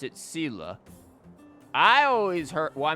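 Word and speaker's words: Seele: you you know for traces of wildfire okay zela is usually always out on patrol here at this time wildfire up to hmm are they avoiding me they pronounce it sila i always heard well i mean i've heard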